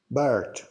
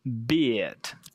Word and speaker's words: beard: It sounded like the animal bird, right? The correct version should be beard. And what I tell my students sometimes is that if you're drinking a beer and you spill it in your beard, then you can easily remember how to say them.